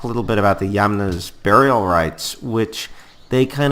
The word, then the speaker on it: Yamna: They were replaced by a culture that, again, rhymes with Kama, but this is Yamna.